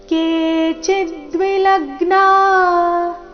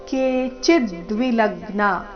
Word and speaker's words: ಕೇಚಿದ್ವಿಲಗ್ನಾ: ಮತ್ತೊಮ್ಮೆ ರಸ್ವನಿ ಮುಂದಿನ ಚರಣ ಕೇಚಿದ್ವಿ ಲಗ್ನ ಕೆ ಚಿದ್ವಿಲಗ್ನ ಚಿದ್ವಿಲಗ್ನ ಚಿ ಮತ್ತೆ ಲ ಮೇಲೆ ಈ ಶಬ್ದದಲ್ಲಿ ಆಘಾತ ಬರಬೇಕು ಕೆ ಚಿದ್ವಿಲಗ್ನ ದಶನಾಂತರೇಷು ದಶನಾಂತರೇಷು